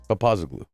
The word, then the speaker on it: Papazoglou: Papazlu. Okay. So very simple. Is it? Yeah. It's exactly the way it's spelled.